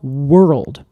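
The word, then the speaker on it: whorled: So that then evolved to be all world. And that means W, and that is spelled W-O-R-L-E-D.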